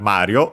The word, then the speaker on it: Mario: Should be accent on the ma, as mentioned in the previous series, Super Mario Land 1 and 2. But potentially Japanese might pronounce it with unaccented because of its similarity with given names in Japanese, which have the